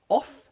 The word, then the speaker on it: of: how do you pronounce off and over so off the o FF off and with one F it's voiced of of again it's